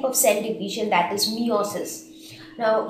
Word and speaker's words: meiosis: cell division that is meosis now some of the people pronounce it as meiosis or meosis whatever you call it now there might